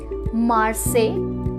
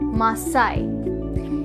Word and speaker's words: Marseille: इसे आप दोनों तरह से कह सकते हैं, या तो आप इसे मार्से कह सकते हैं या तो आप इसे मार्साई भी कह सकते हैं। ये दोनों ही प्रोनाउंसिएशन सही है।